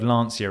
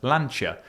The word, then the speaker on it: Lancia: Well, it was a thing that I put up about I said the word Lancia and someone pointed out that they said, "Well, it's actually pronounced Lanchia."